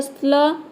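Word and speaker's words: slow: भी प्रोनाउंस करते हैं लेकिन अगर वर्ड के बीच में आ जाएगा तो केवल इसे ओ प्रोनाउंस करते हैं ठीक है तो देखिए एस एल का हो जाएगा स्ल ओड का हो जाएगा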